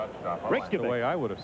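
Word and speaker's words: Reykjavík: Palmer wants me to pronounce the capital. Reykjavik, right? Reykjavik.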